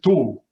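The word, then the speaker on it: tov: In dialect is tu. So. T-O-V. T-O-V.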